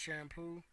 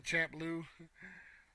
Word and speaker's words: Champloo: It's pronounced shampoo. I was saying champloo. So see, that's already gonna piss me off right there. How is it pronounced shampoo and it's spelled champloo?